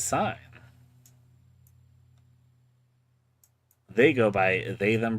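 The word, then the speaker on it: Scyne: First of all, let's meet our main character sign. It's spelled s c y ne. And this is sign.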